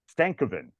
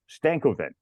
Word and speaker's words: Stankoven: But I wrote Stanko and then Ven after it. So I could go Stankoven and Logan Stankoven, just like that.